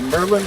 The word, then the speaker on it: Maryland: Maryland and I'm like it's either Merlin like the wizard it's either Maryland like Maryland Maro or Merlin like the wizard cuz